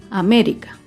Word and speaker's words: América: Otro claro ejemplo es la palabra América. América se acentúa en la antepenúltima sílaba.